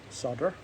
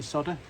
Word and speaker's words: solder: Sure there's an L in solder. Why do Why do you call it solder? S O L D E R. Solder. Unless in America you spell it differently. This is actually soda, but it sounds a bit weird.